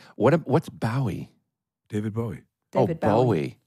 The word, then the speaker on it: Bowie: David Bowie. Bowie. I thought you said Bowie. A lot of Brits say Bowie.